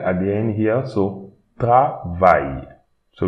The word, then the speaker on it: travail: Don't pronounce this E, M, and A-I, L at the end here, so travail. So we don't pronounce the E at the end, but we pronounce the Y. Travail, travail, travail.